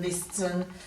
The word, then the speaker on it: listen: letter softn fastin hastin listen listen it's just too hard to pronounce the T that's why we've dropped